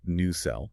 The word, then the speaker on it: nacelle: That is pronounced new cell.